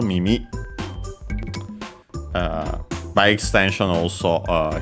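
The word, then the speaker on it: 耳: Uh first and foremost we have uh mimi uh which means ear of course also ears plural uh accent on the last syllable mimi uh by extension also uh hearing uh ear for music and so on.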